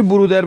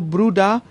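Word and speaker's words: Bruder: عرض کردم که اری که در پایان اسم باشه معمولا به صورت ر، به صورت آ تلفظ میشه، یعنی برودر بگیم درسته اما برودا بهتر و صحیح تره.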